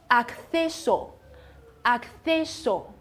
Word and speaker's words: acceso: 所以这个单词读作 acceso，acceso，好。